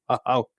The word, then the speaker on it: Hauk: Well, I Googled them, and there's on Classic Trains an article by one Hauk. I saw it. I believe the posted. phrase is "splain, please." Is it Hauk? It is Hauk, right?